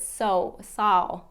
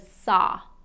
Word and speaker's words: saw: I have a lot of clients that pronounce it saw, instead of saw, okay? Drop the jaw, saw, okay?